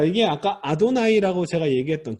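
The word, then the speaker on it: אדני: 생각하십시오 자염 이 두 번째입니다 자 이게 아까 아도나이 라고 제가 얘기했던 그 여호와 하느님을 아도나이 라고 하니까 그게 말이에요 거예요 아도나이 이렇게 이렇게 쓰는 겁니다 아 rw 다음에 눈 요드 구요 합 타오 탓도 나이에 아도나이 해도 나 2주 이게 바로 나의 중요할 것입니다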